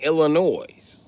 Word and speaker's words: Illinois: It's Illinois. It's not Illinois. Illinois is the wrong pronunciation. Bitch, I'm from Illinois. I know. It's called Illinois. Ask anybody what I L stand for. They going to say Illinois with a S. The S ain't silent, motherfucker.